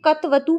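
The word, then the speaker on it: क्तवतु: लेकिन कत और कतवतु ये बिल्कुल इसका अशुद्ध उच्चारण है, क्योंकि क इस तरीके से बोलने का मतलब है कि क में स्वर है जबकि नहीं है। तो आपको शुद्ध उच्चारण करने का प्रयास करना है। कत प्रत्यय कत्वतु प्रत्यय, कत्वतु प्रत्यय, क को छोटा सा बोलिए, इस तरीके से इसका सही उच्चारण होता है।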